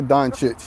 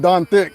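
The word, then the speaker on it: Dončić: the proper way to say it is Luca Don chit Don chit don chi there you go you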